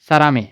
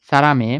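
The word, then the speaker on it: 사람의: করা হাঙ্গুক মানে করিয়া সারামে মানে মানুষের এটার উচ্চারণ উই হবে না এ হবে অনেকে উই বলতে পারে এটার উচ্চারণ হবে এ আর এটার অর্থ হবে র সারামে মানুষের আমন্ত্রণ গ্রহণ করা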